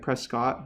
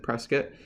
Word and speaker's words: Prescott: town called Prescott Arizona it looks like Prescott but they pronounced it press kit and this is out